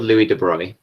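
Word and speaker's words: Louis de Broglie: um a guy called louis de bruyne which is spelt the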